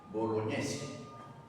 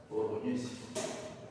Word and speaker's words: Bolognesi: La G y la N en italiano y la G y la N en francés se pronuncia ñ.